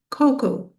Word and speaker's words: cocoa: Okay, this one is a little bit tricky because of the a at the end. This word is pronounced cocoa.